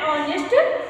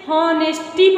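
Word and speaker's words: honesty: ऑनेस्ट कभी कभी बच्चे हॉनेस्टी पढ़ देते हैं, हॉनेस्टी, क्योंकि जो मैंने साइलेंट लेटर आपको पढ़ाए हैं, ठीक है, उसे पढ़े ऑनेस्टी बोलते हैं, जैसे है ना ऑनेस्टी।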